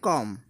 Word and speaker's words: comb: हालांकि ये बी इसमें साइलेंट रहता है, इसको बोलते हैं कॉम।